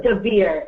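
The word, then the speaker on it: Dvir: And his first name is Devere. It's D-V-I-R. You pronounce it Devere? Devere, yes.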